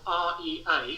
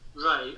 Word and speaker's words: Rea: The easiest way to find me is my name and then the surname which is spelled R E A like Ronald Reagan for example. Rea. So my name Ray and then add the word parrot and do a free word search.